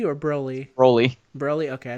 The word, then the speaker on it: Broly: Brawly, is it Brawly or Broly? Broly.